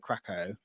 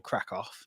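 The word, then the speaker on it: Kraków: we flew to uh krakow or crack off depending on if you want the proper pronunciation um and then yeah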